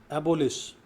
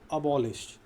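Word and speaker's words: abolish: एबोलिश, अबॉलिश, जिसका सही उच्चारण क्या होता है? अबॉलिश, अबॉलिश।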